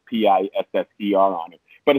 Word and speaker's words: PSSR: it right well well the the band is pronounced pisser p-i-f-f-e-r um but well we call the pssr